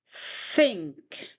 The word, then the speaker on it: think: To pronounce it properly, put your tongue between teeth, blow air out, and say think. Say it with me think. It's not think, it's not think, it's think. Can you say it?